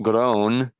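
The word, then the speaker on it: Groene: Um, long before the uh the the I think it's pronounced grown, gr o e n e. Uh before the grown family ever heard Joseph Edward Duncan III's name.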